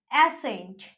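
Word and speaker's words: ascent: Seizures, एसेंट, muscle, etcetera, क्या है? एसी, यानी कि सी हम लोग प्रोनाउंस नहीं कर रहे।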